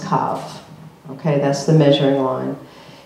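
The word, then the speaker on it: קו: It's pronounced kav.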